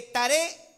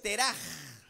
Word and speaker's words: Teraj: Ahora, Taré es un nombre interesante porque Taré no se pronuncia así en el hebreo. En el español es Taré, pero en el hebreo es Teraj. Así con la J fuerte.